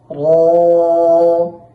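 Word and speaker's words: ر: সা সা এরপর জিম জিম এখানে জিম হরফটি উচ্চারণের সময় খেয়াল রাখতে হবে যেন শক্তভাবে উচ্চারণ হয় এবং বাতাস না বের হয়।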